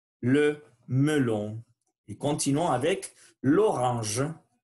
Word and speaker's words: l'orange: Donc, on ne va pas dire la orange, sinon on dit l'orange. Et faites attention à la prononciation du son j. C'est comme une petite abeille. L'orange, l'orange.